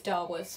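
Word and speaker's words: Davus: slave named Darvus, and if you're going to pronounce it properly, it's Darvus, but throughout the whole film, they obviously pronounce it like how we would in English rather than the Latin.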